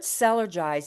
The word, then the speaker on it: Cellergize: The word sellergize is most likely a play on the words energize and energize ourselves. So, it's sellerize just to get the pronunciation.